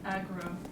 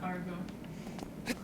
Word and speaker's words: Agro: nitpicking your pronunciation of the horse's name saying that it's Agro not Argo oh is it Agro